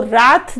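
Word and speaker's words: wrath: अब ये मीनिंग जो दिखा रहे हैं वो रैथ दिखा रहे हैं, प्रोनाउंसिएशन मतलब ज्यादातर लोग इसको रैथ बोलते हैं, जो काफी डिक्शनरीज रॉथ बताती है, जिसका मतलब गुस्सा होता है।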